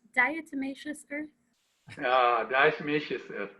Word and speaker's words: diatomaceous: What was the pronunciation of that word? I think it's diatomaceous earth.